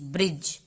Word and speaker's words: bridge: ब्रिज, यहाँ पे देखिए BRIDGE, ब्रिज, ब्रिज इसको पढ़े, लास्ट में ई को नहीं पढ़े, जी तक ही साउंड है ब्रिज, लेकिन जी को भी हम जॉ यहाँ पे पढ़े क्योंकि जी के बाद ई लगा है।